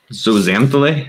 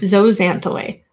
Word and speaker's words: zooxanthellae: And it is zooxanthellae. Zooxanthellae? Zooxanthellae. I love it when the letter X sounds like a Z. It just sounds so cool.